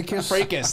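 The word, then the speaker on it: fracas: Fracus, that's how you pronounce it. I've only ever seen it in writing.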